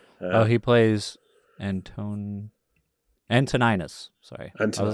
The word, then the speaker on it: Antoninus: do unfortunately but oh he plays and tone antoninus sorry until I was like I know I've